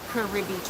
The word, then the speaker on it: Cabarete: But here we pronounce it Cabarete Tours.